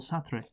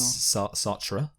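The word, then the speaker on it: Sartre: by French philosopher Jean-Paul sathri ah or sat however you say it I think it is satra okay you can probably it's definitely a better a more French way of pronouncing it but who cares yeah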